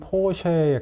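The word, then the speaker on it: Porsche: 원래 독일 발음이 뭔가요? 어, 독일 발음은 포쉐에 가깝고 이제 쉐 예, 정확하게 쉐 발음에 더 가깝네요.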